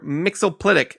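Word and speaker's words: Mxyzptlk: Mixolydic, and that is the official pronunciation from DC. Not I Mixoplick?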